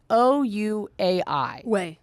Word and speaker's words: Ouai: If you have a dog lover in your life, I never know how to pronounce it, but they make mostly shampoo for humans. Is it Ouai? It's the Ouai.